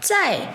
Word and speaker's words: 在: Ici, 在 est au quatrième ton.